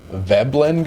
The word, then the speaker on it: Veblen: texan gave us an answer it's called a veblen good i'm assuming that's how you pronounce it veblen v-e-b-l-e-n i'm gonna put the